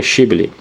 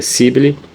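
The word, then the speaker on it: שיבולת: E se ele dissesse não, e diziam: diga Shibli. E se dizia Sibli, porque não podia pronunciar assim, então o faziam passar e o degolavam junto ao val do Jordão.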